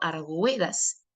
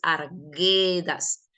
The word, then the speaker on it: Arguedas: Ya no, porque para que formen diptongo, usted pronunciaría, por ejemplo, arguedas, pero la palabra no es arguedas, sino que es arguedas. ¿Qué pasó con la U? La U es muda, la U no está sonando.